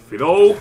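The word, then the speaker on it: Fidough: No matter who or vale, what es Fido. Wait, la pronunciación es Fido.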